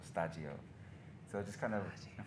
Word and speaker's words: Shtajio: And so, and in Japan, they always say stagio to pronounce studio. Yeah. So I just thought it would be kind of interesting to put those two together. So stagi and studio, so stagio.